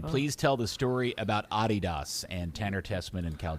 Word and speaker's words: Adidas: So MLS obviously sponsored by Adidas. Part of the contract that's pronounced Adidas here in the United States, Dan. The guy's name was Adi Dassler. It's Adidas.